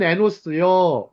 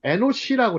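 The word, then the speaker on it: אֱנוֹשׁ: 자, 누가복음 3장 38절 보면 그 위는 에노스요, 그 위는 셋이요, 그 위는 아담이요, 그 위는 하나님이시니라. 누가복음 족보입니다. 누가복음 족보. 여기서 보시면 에노스 혹은 에노시라고 그래. 에노시. 원래는 발음이 에노시가 사람이란 뜻이에요.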